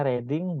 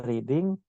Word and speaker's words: Reading: S3 saya di UK namanya University of reading bacanya reading bukan reading lokasinya itu ada di